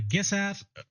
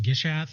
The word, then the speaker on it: Gishath: Then we have Gishath. Um or or Gish Gishath. I guess it depends on how you want to pronounce that.